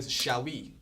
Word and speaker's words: Xavi: Like I know if you guys are soccer fan, you know the previous famous Barcelona player Xavi, right?